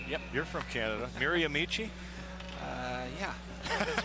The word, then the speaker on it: Miramichi: Brad Malone there from Miramichi, New Brunswick. Now, did I say that right? Yep. You're from Canada. Miramichi?